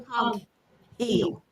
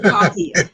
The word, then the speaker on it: Coghill: Coghill. Coghill. That's a unique name for me. That last name, Coghill. I'm saying it right, right?